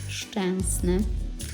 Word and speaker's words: Szczęsny: Y Ahí voy a ponerlo en polaco. si edita, 3, 2, 1. Wojtek Szczęsny.